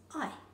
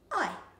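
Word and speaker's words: ae: If you want to, you could never say the word yes again, because the word yes in te reo Māori is ai. It's spelled A-E, ai.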